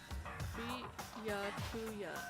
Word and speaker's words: Byakuya: Byakuya is how it's pronounced, said by the crew.